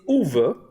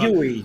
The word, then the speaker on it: Uwe: It's Uwe Uwe. Boll. Uwe Boll, yeah. Okay, Uwe. Not Yui, not Yui. A lot of people say Yui always.